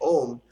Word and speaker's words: Om: So you can take and break out the sound Ah, or you can break out the sound U, or you can say Om as Ah, U, Ma.